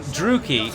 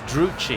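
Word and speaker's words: Druchii: the more interesting one, I always thought that Druki is the well-established name of the Dark Elves, and Dowie is the well-established name of the Dwarves. But I've heard it pronounced Dowey and Druchi.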